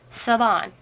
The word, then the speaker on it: Siobhan: And her name, Siobhan, is an Irish name. So she told me how to pronounce it. I'm like, how do you say your name? And so, Siobhan.